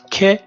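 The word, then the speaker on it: ک: Okay, we have this, which is a connective one, and that's ke, and pronounced ke, like cat, like ket, like kettle, sorry, like kicking, or like just any k, cake, okay, cake.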